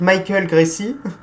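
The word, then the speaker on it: Michael Gracey: Oui, je pense qu'on va plutôt le prononcer à l'américaine, donc Michael Gracie, ça serait mieux.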